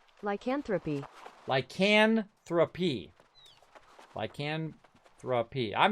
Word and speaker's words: lycanthropy: I searched for the pronunciation. Lycanthropy.